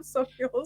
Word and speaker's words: Sauchiehall: I walked from one end of Sauchiehall Street to the other end of Sauchiehall Street. well, you can pronounce it properly, so that's good.